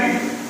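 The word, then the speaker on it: read: तो यहां पर स्पेलिंग सेम रहता है पर उसका जो उच्चारण होता है, मींस कि जो वर्ड्स का प्रोनाउंसिएशन होता है उसको चेंज करके बोलते हैं रेड होता है.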